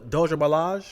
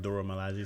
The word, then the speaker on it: Dora Milaje: The Doja Malaj? Mm-hmm. Am I saying it right? Dora Milaje, something like Dora that.